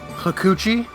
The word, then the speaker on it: Hakuchi: Hakuchi. I think it's supposed to be pronounced Hakuchi.